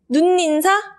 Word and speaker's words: 눈인사: 니은청과 현상이 일어나는지 안 일어나는지 단언을 하나 보겠습니다 눈인사 눈 인사 한번 볼 같아요 눈 인사는 복합 버전 눈